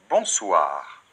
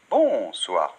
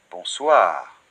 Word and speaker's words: bonsoir: en reparlera plus tard et le r finale bonsoir très bien sans tonique et toujours à la fin des mots en français donc c'est pas on soir non bonsoir d'accord bonjour très bien